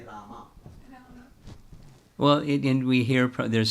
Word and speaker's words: Rama: Hare, and in that he corrected, not Ram, say Rama.